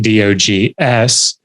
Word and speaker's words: dogs: the word dogs phonetically i wouldn't write d-o-g-s because that's how it's spelled i wanted to write it as it sounds i would write d-o-g-z dogs and so these texts